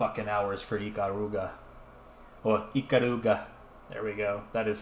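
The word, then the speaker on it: Ikaruga: 200 hours is a lot of hours for Iaruga or Iaruga.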